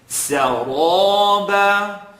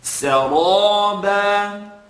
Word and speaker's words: سرابا: Now you're going to be taught, don't move your lips when pronouncing the letter ra. That is true. But I want you to put emphasis now on pronouncing the ra heavy. Saraba. And it's not so much about the shape of your lips as much as it is the air that you're controlling in the mouth.